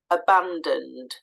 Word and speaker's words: abandoned: the unstressed sound is abandoned the O pardon the O after the D sound so we we do say that sound aband so that o is there it's it makes an uh